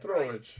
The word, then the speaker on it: Petrovich: Petrovich, yes, do it right. Petrovich. You have to get the accent and the right syllable.